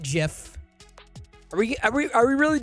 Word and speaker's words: GIF: recharge the batteries here we all know it's pronounced jiff exactly short of building lego 3d printing and